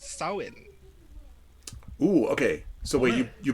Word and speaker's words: Samhain: Apparently, when it's pronounced in Irish Gaelic, it's pronounced Samhain.